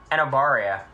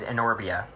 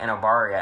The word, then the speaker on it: Enobaria: So, Enobaria, for some reason I just read it as Enorbia. And that's just always how I read it. And then in the movie they're like Enobaria, and I'm like, what?